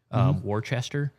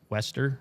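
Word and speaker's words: Worcester: I pronounce it like common core Warchester but apparently it's Wester Wester Massachusetts.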